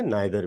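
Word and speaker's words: neither: इसको नीदर भी कहते हैं, नाइदर भी कहते हैं, दोनों ठीक है।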